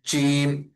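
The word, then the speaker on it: ج: তারপরের অংশ হরফটা হচ্ছে জিম জিমের উচ্চারণটা হবে হচ্ছে একদমই শক্ত।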